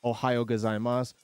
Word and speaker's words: gozaimasu: Go zai mas. You don't typically pronounce the SU. You just go mas. At least in the at least when you're using the word Ohio gozaimasu or chinchin desu.